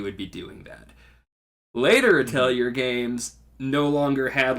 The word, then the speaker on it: Atelier: played many of the Atelier games. Or Atelier. I think is technically how you're supposed to pronounce it.